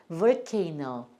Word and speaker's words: volcano: 두 개가 있을 때는 얘를 자기 이름 소리를 낸다. 얘 이름이 A니까 이 이렇게 써주시고요. 그 다음에 애는 니은. 그 다음에 얘가 이제 온지 모르는 소리 이렇게 됩니다.